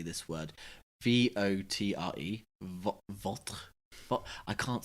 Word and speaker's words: votre: For me, it was just the pronunciation. Oh yeah. Even now I find it hard to say this word. V-O-T-R-E.